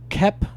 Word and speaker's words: Koepp: David Koepp, I believe is how you say his name.